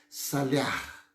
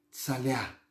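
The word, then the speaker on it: צלח: sobretudo no Antigo Testamento, uma palavra hebraica que se pronuncia assim, salear, salear, salear. T-S-A-L-E-A-H. Salear. Em hebraico.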